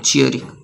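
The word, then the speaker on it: cheery: बहुत ही प्रसन्न हो तो चेरी हो। चेरी। Sorry sorry sorry sorry मैंने चेरी बोल दिया शायद चरी होते हैं। चियरी थोड़ा सा प्रोनाउंसिएशन मैंने मिस्टेक कर दिया यहां पे चरी होते हैं।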